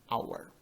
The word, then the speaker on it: hour: já na segunda frase o h é mudo não será pronunciado por isso utilizaremos o n n hour e em português um